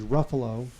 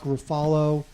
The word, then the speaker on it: Ruffalo: important yes it is Ruffalo rhymes with Buffalo not mark rafalo Ruf how about rufalo